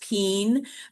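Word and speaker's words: -pine: DHPs, which are the penes. It looks like pine, P-I-N-E, but it's pronounced peen.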